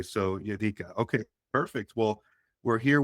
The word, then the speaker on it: Jedlička: And the one Jedlička. You can try one more time. Yeah. You We want J as like a Y.